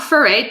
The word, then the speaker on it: Ferre: to say my name it rhymes with hooray okay so what does